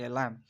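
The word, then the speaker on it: lamb: अब जो हमारा वर्ड है वो है बी, is always silent after M एट द एंड ऑफ a word. देखें, अगर एम से बाद में अगर बी आता है तो बी हमेशा साइलेंट होगा, जैसे कि लैम।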